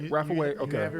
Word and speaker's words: Rapha Way: Rapha Way?